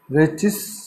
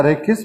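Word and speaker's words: rachis: यहाँ पर रेचिस या रेकिस प्रोनाउंसिएशन में आप यूज़ कर सकते हो।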